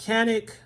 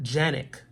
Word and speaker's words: Canik: Canik in English pronounced Canik it is made in Turkey and they pronounce it Yannick so it's a little